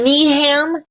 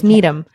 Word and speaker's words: Needham: you got it right oh it's not Needham it's not Needham no it's Needum so the closure of